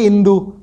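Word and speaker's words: Hindú: Par Hindu ko Indu bolte hai kyuki H silent hai. So L A C O M I D A H I N D U Lekin usko bolenge Indu because H Spanish language mein silent hai.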